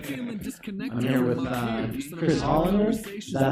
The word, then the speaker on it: Hollander: I'm here with Chris Hollander. Is that how you pronounce that?